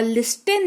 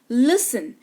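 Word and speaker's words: listen: टी के ठीक पहले एस लगा हुआ हो या एफ लगा हुआ हो तो टी साइलेंट होता है। क्लियर? ऑफन नहीं ऑफेन। सॉफ्टन नहीं सॉफ्टन और लिस्टेन नहीं लिसन।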